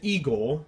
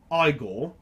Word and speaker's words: Igor: If you guys want to pronounce it eigore, that's fine. I'm gonna pronounce it igore because I think most British from British speakers from England or in Hong Kong will pronounce it iiggore, just like how we would answer a text message on our phone, that's an iPhone rather than an e phone.